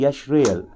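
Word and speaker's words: ישראל: यशरेल के लिए सुने हिब्रू वर्ड क्या, यशरेल, जिसे हम इजराइल कहते हैं। हिब्रू प्रोनाउंसिएशन है यशरेल।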